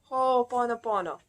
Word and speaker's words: Ho'oponopono: I always have hard time to pronounce it, but let me see if I can do it. Ho'oponopono.